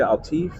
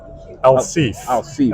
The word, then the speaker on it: Alsif: But it's how do you say Altif? Alsif. Alsif.